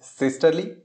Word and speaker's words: systole: Their proper pronunciation is systole and diastole, but I am not used to these pronunciations, so I am sticking with systole and diastole.